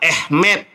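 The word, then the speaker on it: אמת: Amar lo Yesua, berkatalah Yesus kepadanya, Ani akulah, haderek, aku adalah jalan, Feha Ehmet, tulisannya Emet, dibacanya Ehmet.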